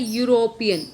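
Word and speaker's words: European: ये है यूरोपियन, ई साइलेंट है इसमें, यूरोपियन, ठीक है।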